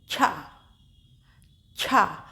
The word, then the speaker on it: च्छा: इसमें हल्की सी चा की साउंड भी निकलेगी, क्योंकि ये आधा चा है तो हल्के से हमें चा का उच्चारण करना है और उसी के संग जोड़ देना है हमें छा, जिसकी पूरी साउंड निकलेगी। छा, हल्का सा चा क्योंकि ये आधा अक्षर है, और छा पूरा।